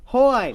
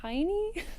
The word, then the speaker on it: Hine: Hine. Hoyne. Fine. You added an extra syllable in there. I like that. Fine. Hoyne. And that's how you talk like an Australian. It's better than what I usually get, which is it Heine?